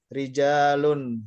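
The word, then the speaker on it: رجال: Jangan dibaca rojul ini. Yang ini. Jangan dibaca rojul. Ini dibacanya apa? Rijalun. Rijal.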